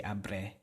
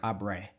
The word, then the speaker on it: abre: in where I'm from we say abre with the are you remember you have to roll that are trill it right you don't don't pronounce it like the American are you know like abre don't don't do that it's up there next